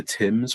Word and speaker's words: Thames: She pronounced the river Thames without the H for the first time yesterday.